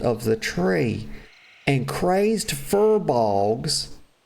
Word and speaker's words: furbolgs: the tree, and crazed furbolgs, I used to call them blogs, y'all. Fur blogs. Then I realized it was not pronounced that way.